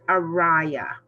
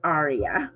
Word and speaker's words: Araya: Araya's it's pronounced Araya. Araya. Yes, instead of Aria.